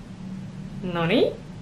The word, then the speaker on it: noni: Okay, the third one is where there is no emphasis at all. It's, how do you say a word without any emphasis?